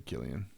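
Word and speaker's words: Cillian: killianyan murphyan Murphy cyan it's EI I don't know how you pronounce it it's Irish right or something if it's Irish it's probably Killian I think it's Killian he's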